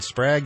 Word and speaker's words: Sprague: It's Prague with an S, so I appreciate it.